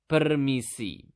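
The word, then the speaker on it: permisi: in basa you simply just need to say permissi okay how do you say it again per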